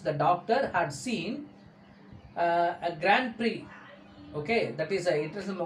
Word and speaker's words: Grand Prix: The doctor witnessed what I call the Grand Prix, Grand, Grand Prix. X is silent, okay?